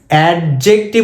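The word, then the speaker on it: adjective: noun pronoun এডজেক্টিভ এডজেক্টিভ এডজেক্টিভ উচ্চারণ করবো না ডি এর উচ্চারণ হয় না এডজেক্টিভ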